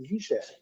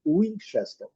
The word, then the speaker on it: Winchester: Muitos usam como Winchester. Porém, a pronúncia em inglês com W é U. Então, seria Winchester.